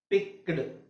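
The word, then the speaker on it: picked: ನಾವು ಇದು ಕ ಮತ್ತೆ ಟ ಹೇಳಬೇಕು ಅವಾಗ ಏನಾಗುತ್ತೆ ಪಿಕ್ಡ್ ಅಂತ ಇರೋದು ಪಿಕ್ಡ್ ಓಕೆ ಸೋ ನಾನು ಒಂದು ಪ್ಯಾಟರ್ನ್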